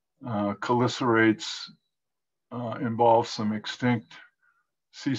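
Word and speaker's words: chelicerates: from my buddies at csu that i've been pronouncing this word wrong my whole career it's not chilisa rates it's color serrates cholicerates uh involves some extinct sea spiders and you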